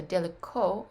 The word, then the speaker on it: далеко: So далеко, it ends on the O because your accent is on the O.